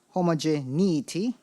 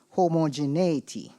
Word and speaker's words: homogeneity: Khalil, your word is homogeneity, can also be pronounced homogeneity.